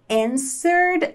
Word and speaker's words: answered: que quer dizer responder e repare que a letra w é muda então a gente não fala and nem Ed né no passado aqui esse e